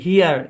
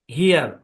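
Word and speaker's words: here: অবশ্যই কার লাগবে তাহলে এই শব্দের উচ্চারণ কি হিয়ার কি উচ্চারণ হিয়ার হেয়ার মানে কি হিয়ার মানে হচ্ছে এখানে একটা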